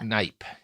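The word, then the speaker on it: Kneipp: look into this guy, his name is spelled Kneip. So, just Knipe.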